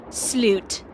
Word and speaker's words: slut: But if you're in Sweden, it's just one word and it's called sloot, but it's spelled S L U T.